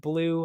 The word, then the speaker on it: BLÜ: nunes very much confident why is there two two dots above my name very good question that's just the way i like it because technically it's still pronounced blue i was trying to